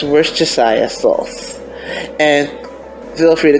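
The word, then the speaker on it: Worcestershire: Now, one of the most hard pronounced words or combinants out there is worst sauce. It's worstayia sauce.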